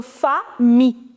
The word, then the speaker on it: famille: What is the pronunciation of I-double-L? Whenever you have I-double-L combination, you do not pronounce double L. It is E. So famille. Famille.